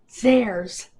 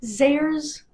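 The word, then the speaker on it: Zayre's: Zars, for those of you not as old as I am, I was born in 1974, a month before they disappeared. Zars was a department store way back in the day.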